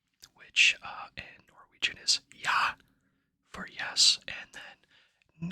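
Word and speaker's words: ja: yes and no which uh in Norwegian is yah for yes and then n for no yeah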